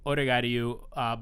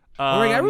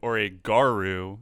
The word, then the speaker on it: Oregairu: So for the longest time, I pronounced it Oregairu, just dropped the I entirely because I was like, that sounds better.